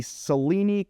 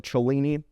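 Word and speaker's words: Cellini: This takes us into the Seleni kind of reboot or the Cholini. For those of you out there that are big into the European pronunciations, this is going to be the Rolex 1908.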